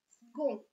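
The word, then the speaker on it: second: Это слово «сгон». Буква «с» здесь произносится как «г». Это не правило, это исключение.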